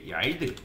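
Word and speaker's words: yield: 쓸 거냐면 일단은 여기다가 얄드 뭐 이걸 발음하는 게 어려운데 얄드라고 읽거든요. 얄드라고 뭐 이런 식으로 읽어요.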